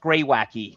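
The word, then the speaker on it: greywacke: That's pronounced greywacky.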